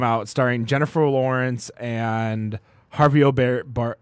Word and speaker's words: Javier Bardem: that just came out starring jennifer lawrence and jarvio bar how do you say his name javi javier bardem yeah yeah yeah yeah yeah yeah what he